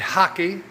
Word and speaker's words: rack: It's called a uh a hockey which is rack r a c k but they pronounce it hockey.